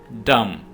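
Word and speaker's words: dumb: डम, यहां पे भी आपने बी को साइलेंट रखना है, ये वर्ड है डम, डम के मानी है गूंगा।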